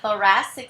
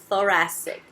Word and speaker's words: thoracic: É com TH, TH. Então, se fala thoracic. Thoracic. Tá? Tem que colocar uma linguinha aqui.